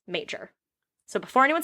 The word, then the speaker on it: Mauger: his name is spelled m-a-u-g-e-r like it would be you would think would be mauger but it's pronounced major so before anyone says anything it's pronounced major they met at a